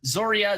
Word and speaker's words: Zoria: of these fictional characters nonetheless zoria zoria is the correct one 0ri a rune stone